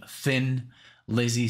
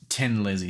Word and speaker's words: Thin Lizzy: letting me know because i basically was saying thin lizzy so now i know it's 10 lizzy so thank you for